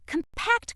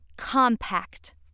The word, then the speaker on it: compact: The other pronunciation of word four is compact. Compact. This pronunciation is used when word four functions as a noun that means an agreement between parties, a small case containing a mirror and face powder or a small car.